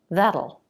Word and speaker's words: that'll: Now, it'll and that'll are 2. That'll. The vowel can either be the a as in bat vowel, that'll be nice, or it can be reduced to the schwa.